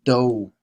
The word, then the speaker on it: 都: This is not 多 as some people mistakenly pronounce it. It's this OU final is pronounced O, like Homer Simpson. Do, damn it. That is how do is pronounced in Chinese.